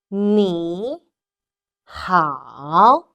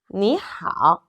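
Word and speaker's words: 你好: repeat after me how sometimes you can hear that some people pronounce me ha me ha because there are some time changing rules but you know the second Rising tone and the third falling Rising town the can of sand similar to each other so no matter you're gonna pronounce Nihao or ni ha people are gonna understand if so you can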